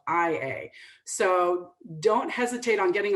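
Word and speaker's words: Oia: So if you're trying to find, for instance, a bus that goes to Ia at the top, it's spelled O-I-A, but sometimes it's spelled I-A.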